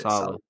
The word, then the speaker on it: Saleh: I think it's like to say it like ASALA. That's how you say it. Saleh.